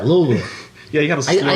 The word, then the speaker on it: Louisville: God, you even say it right, Louisville.